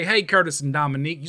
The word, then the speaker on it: Dominique: one more s and just think of her as dom unique because she's unique no okay i am